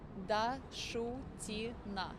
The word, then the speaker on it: Dashutina: And pronounce your last name for me one more time. Dashutina. Dashutina. Thank That's you. correct.